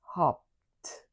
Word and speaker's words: hopped: In its past form, the e d will sound like t. So it will look like this. hopped.